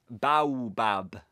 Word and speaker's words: baobab: Baobab. It's the bidibab tree, Edwin pronounced slowly and impatiently.